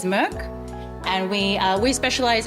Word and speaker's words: MK: It is pronounced uh our director is Swedish, so the actual proper pronunciation is Merc.